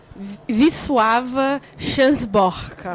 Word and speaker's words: Wisława Szymborska: Se escreve Wisława Szymborska, mas se diz... Wisława Szymborska.